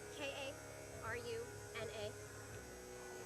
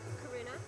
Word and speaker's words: Karuna: my name's hard too okay one second okay k a r u n a last doctor yes do pronounce karuna I got it right karuna okay beautiful all